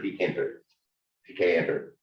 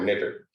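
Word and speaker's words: Tkinter: But it very, very quickly became the premier reference for TK Enter, or Knitter. You'll hear it pronounced different ways.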